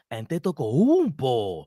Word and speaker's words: Antetokounmpo: The Knicks have the highest odds on landing Giannis Antetokounmpo.